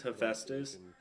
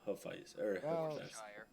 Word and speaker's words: Hephaestus: really just pronunciation yeah the correct is Hephaestus but people call him huffies tomato tomato you know